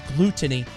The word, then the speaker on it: Glutonny: It's Glutonny. That's what he's called. Glutonny. If you want to see Glutonny, it is spelled with two T's.